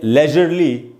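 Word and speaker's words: leisurely: उसके बाद दोस्तों अगला वर्ड, और ये है लेजरली या लीजरली, दोनों ही इसका उच्चारण है। ये दोस्तों लेजर या लीजर दोनों ही करेक्ट प्रोनाउंसिएशन होते हैं इसके, उसी में ly लग के ये बना है एक एडजेक्टिव।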